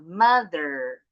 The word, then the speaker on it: mother: Nah, mother atau enggak bunyi mother. Kalau British English enggak bunyi nih. My mother and father. My mother and father. Kalau American English pasti kedengaran R-nya.